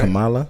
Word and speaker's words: Kamala: You said it right. Kamala. It was You Kamala, good? right? Yeah. I just want to make sure I got it right.